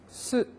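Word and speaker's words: す: 수도 아니고 쭈도 아니고 어떤 사람은 수에 SU로 발음이 되어 있다고 해서 표기가 SU로 되어 있으니까 이것을 수로 발음하는 사람이 있습니다. 각세이 대수, 센세이 대수 그죠? 누구 네이티브한테 지도를 안 받으면 그럴 수밖에 없죠. SU라고 하면 우 발음이니까 어쨌든 수, 쭈, 구, 무 이렇게 발음할 거란 말입니다. 그런데 이 우단의 일본어의 우단의 특성은요. 완벽한 우가 아니고 의에서 진화해서 우로 가다 마는 의입니다. 스, 으 그러니까 해도 으로 가다가 마는 거예요.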